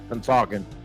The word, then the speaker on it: Pennsauken: me like 6 weeks to learn how to pronounce that, Pennsauken.